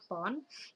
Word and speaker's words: pon: Berat lantai yaitu untuk lantai 1 W1 52.500 pon, LB ini bacanya pon, dan W2 25.500 pon.